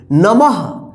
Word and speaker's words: नमः: तो इसको मा पढ़ेंगे आप पढ़ेंगे नमः यानी जहां पे विचार रहेगा वहां पे हा का उच्चारण आप करेगा ठीक है और यहां